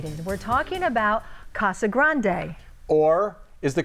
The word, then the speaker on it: Casa Grande: we're talking about Casa Grande or is the correct pronunciation Casa Grande Brian Brennan made the drive